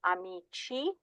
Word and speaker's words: amici: So these do not take the pronunciation of the K or the G, they actually take the Ch with the soft I sound.